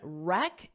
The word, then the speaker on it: wreck: of this word wreck so that W is silent just like right to WR but your right so the same thing that W you just hear the r wreck wreck and the